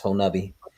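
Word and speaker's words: Honobia: been on two expeditions in oklahoma around the whole nubby area spelled whole no hoenobia but it's it's it's pronounced whole nubby very very hit i know i know dave's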